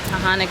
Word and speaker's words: Taughannock: macro nutrients so now i know how to pronounce it is tahani falls funny war which is 1775 to 7670